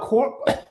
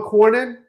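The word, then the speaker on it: Cornyn: It's John Horn. You told me how to say it right. John Cornin.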